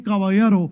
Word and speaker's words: Caballero: we'll get this right in spanish the double l makes a yeah sound the er makes a